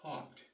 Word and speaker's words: taught: GH is silent and when you teach something the past tense is taught t a u g HT the GH is silent and again look they